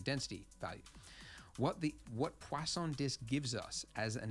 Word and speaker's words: Poisson: called poisson disk distribution poisson there's no W in it but I was told that that's how you say it I guess it's French when we use this